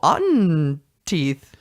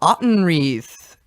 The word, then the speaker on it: Autenreith: did not help me you say it rhymes with rotten teeth and now I mix it to you so welcome we'll fix this in post welcome Rachel Anton wreaths hi hey so welcome